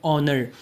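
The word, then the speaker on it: honour: For example an ऑनर एन ऑनर एच से शुरू हो रहा है लेकिन इसका प्रोनंसिएशन है ऑनर again an आवर एन आवर आ से शुरू हो रहा है।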